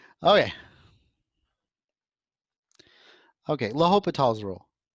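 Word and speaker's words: L'Hôpital: Okay, L'Hopital's rule. And yes, I know that it's spelt like hospitals. Okay, whatever. It's L'Hopital. Okay, L'Hopital's rule, 6.8.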